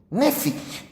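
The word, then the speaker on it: νήφω: 352 que es la la pronunciación es nefi nefi Y saben qué es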